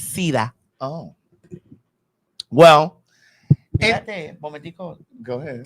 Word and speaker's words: SIDA: It's SIDA.